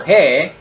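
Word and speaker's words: ה: So hey, not only throat sound, when you say pronounce the hey, you open up your mouth, right? Hey.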